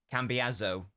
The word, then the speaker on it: Cambiasso: One S in Italian is pronounced like a Z. Cambiasso.